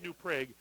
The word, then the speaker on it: New Prague: up there so unless i've been pronouncing it wrong for a lot of years no it's it's new preg and not just down